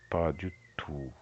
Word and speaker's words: pas du tout: Et si pas du tout, pas du tout sans prononciation de t pas du tout.